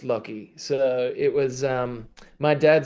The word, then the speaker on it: Loki: trying to define if it was Loki or Loki, and then I realized I'm an idiot because Loki Horror Picture Show. Yeah, but it's a tricky one because I'm named after Loki, but it's pronounced Loki.